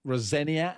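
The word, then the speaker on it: Rosenior: Again interesting to see you know Liam Rosenia as it is pronounced um and what he does.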